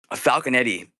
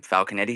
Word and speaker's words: Falconetti: Um, Falconetti, is that is that how you pronounce her name? How do you pronounce her last name? Falcanetti. Is that sound right? Yeah, Falconet.